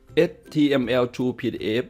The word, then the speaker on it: html2pdf: คลิก เข้า ไป ที่ ลิงก์ นี้ นะ ครับ html True pdf นะ ครับ ให้ เรา คลิก ไป ที่ ลิงก์